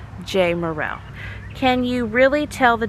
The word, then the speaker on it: Jamerrill: J-A-M at the front and they think jam. And then that really confuses them. But if there was a Y in there, if it was J-A-Y, or if there was a hyphen, but you pronounce it Jamerrill.